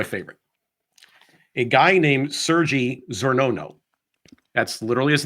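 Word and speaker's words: Czornono: CZ o r n o n o Sergey zono that seems to be the pronunciation of the word this should have been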